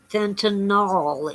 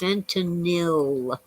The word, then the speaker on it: fentanyl: So we've had some deaths from fentanyl, and it is not fentanyl, it's fentanyl. Look at it, how it's spelled sometime. It's fentanyl.